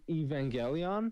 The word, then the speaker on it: Evangelion: talking about sitting there watching how do you pronounce that show? I believe it's an anime, no? It's Evangelion.